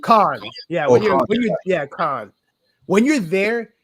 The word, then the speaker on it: Cannes: Cannes.